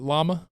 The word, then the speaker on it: llama: Let's get a positivity yama. A what? A llama. A llama. I like to pretend that it's pronounced yama.